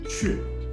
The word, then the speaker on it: 阙: In Chinese, it's read as 雀, but if you try to pronounce it in English or Spanish, Q. Okay. Anyway, I'll stick with the Chinese one here, the 雀.